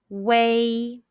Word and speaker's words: wei: blow in chinese question when you see u e i and w e i in p in how would you pronounce them the answer is way are there any topics